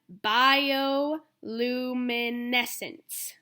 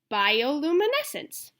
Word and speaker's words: bioluminescence: guys can say that bioluminescence bioluminescence and it's got a pronunciation guide by Oh loom a neck since bioluminescence some creatures use their